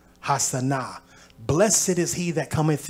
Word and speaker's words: Hosanna: There's no O in ancient Hebrew, so it's actually pronounced Ha-Sana, Ha-Sana.